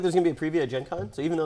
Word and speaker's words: Gen Con: but as I mentioned it's a hard G so you call it gank on Gen Con but you never use